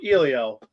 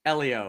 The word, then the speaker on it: Elio: If there is not a reference to pizza from Ilio, I'm going to be pissed. It's actually pronounced It's actually pronounced Elio. Elio.